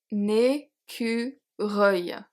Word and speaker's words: écureuil: We have le seuil, un fauteuil, un chevreuil, un écureuil. Reuil. I think this one is hard to say because there's the U and the R, but the ending is actually not that hard.